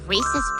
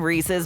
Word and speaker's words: Reese's: just mentioning the name Reese's makes Mal's water with the side of their legendary peanut butter cups but the name wasn't just a sharp marketing idea that happened to rhyme with pieces HB Reese was a real